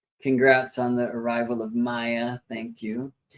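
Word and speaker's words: Maia: Teresa, I'm seeing your congrats on the arrival of Maya. Thank you. I should say that Maya, M-A-I-A, spelled like Maya, the mother of Hermes, rather than M-A-Y-A.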